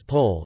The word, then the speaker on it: pol: numerous places of worship a pole pronounced as pole is a housing cluster